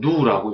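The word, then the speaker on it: ν: 따라서 파송비의 정의는 파송비는 그리스 문자로 이렇게 썼고 읽기는 누라고 읽습니다.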